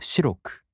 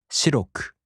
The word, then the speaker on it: 白く: In the downstep type adjectives, the accent falls on the third to the last mora. For example, 白い turns into 白く, and the accent falls on し. 白く.